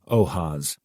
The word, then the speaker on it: OAS: The Andrew Melvin interrogation footage, AMF, pronounced ath is infamous among the conspiratorial community of old house archivists, OAS, pronounced ohas.